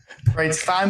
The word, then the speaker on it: Breitstein: Breitstein, but we'll take it. Kind of like Stein, Einstein, or any of the above.